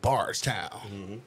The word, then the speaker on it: Bardstown: what we thinking about barst town that's how you got to say it like bars all right we out